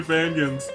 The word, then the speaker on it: Fangan: that there's so many Fangans, so many Fangans. How do you pronounce it, Fangans or Fangans? I pronounce it Fangan, like Dangan, but you know, forget about that.